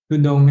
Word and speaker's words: Tudong: Tudong is the word from Pali called Dutanga. Pali pronounced Dutanga, but in Thailand we shorten it to Tudong.